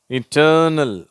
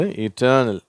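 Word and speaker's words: eternal: surgery தஸ்டி வர்ஷன் worship இட்டர்னல் சரியா இது ஆரம்பத்துல இல இருந்தாலும் அதை இ அப்படின்ற உச்சரிப்பு தான் சொல்றோம் சரியா ஐ வந்தாதான இ சொல்லணும் அப்படின்னு யோசிப்பீங்க இது இட்டர்னல் அடுத்தது இன்டர் ர்னல் பர்சனல் பர்சேஸ்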